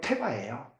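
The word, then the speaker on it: תבה: 근데 이 방주라는 것은 히브리 발음으로 테바예요.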